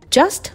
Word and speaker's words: just: CHR の traveling with just Myself もこれは just の T は発音せず Just Just で My も